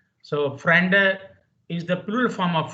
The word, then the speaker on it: Freunde: So German correct pronunciation will be Freunde, not T. D becomes T if it is at the end. Here it is not at the end.